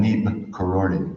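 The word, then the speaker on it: Neeb Karori: I just went to, he got his name from this village called Nib Karori, is the way it's pronounced there.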